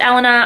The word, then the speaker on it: Elena: I believe it's pronounced Elena. I've done a little bit of research and that seems to be the proper pronunciation of her name.